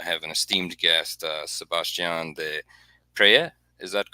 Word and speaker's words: de Peyret: I have an esteemed guest, Sebastien de Peyret. Is that correct? Have I You can pronounce it De Peyret.